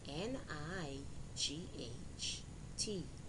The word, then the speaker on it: knight: eight now let's review these words with silent gh knight n i g h t night do d o u